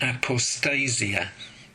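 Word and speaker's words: ἀποστασία: is translated as rebellion which i think is pronounced apostasia am i right i'm good correct and of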